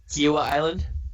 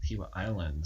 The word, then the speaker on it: Kiawah Island: you said it right, so I'll let you pronounce it first. Kiowa Island. Kiowa Island.